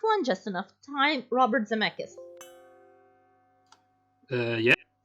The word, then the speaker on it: Zemeckis: It sounded very Lithuanian. Yeah, because it's spelled C-K-I-S at the end, and like I always emphasize that Zemeckis, like that's how we pronounce it.